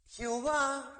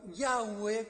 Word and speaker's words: Yahweh: Jehová o Yahweh, como tal vez se pronunciaría mejor, es el Dios de Israel, el llamar íntimo de Israel a Dios.